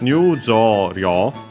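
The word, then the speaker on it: 入場料: The accent of the uh uh when adding rio as a suffix. In these cases before uh it and so actually can stay on the u of jo cuz it's simply the longer vowel. So it's on jo.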